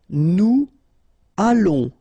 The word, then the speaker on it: nous allons: Nous allons. Remember, final S not pronounced. O and together, it's on. And then we'll make this little link between the two. What we call the liaison, nous allons, okay?